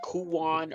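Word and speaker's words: Kuon: or like Kuwan, I believe is how you pronounce it with a ku o n, right?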